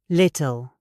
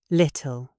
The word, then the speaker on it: little: The T is followed by an L. In British English, we explode the T into the L. Little. Little. Do not make it a D.